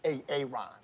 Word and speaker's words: Aaron: you say it the first time I said a a Ron because it's pronounced Aaron you're dumb messed up Aaron the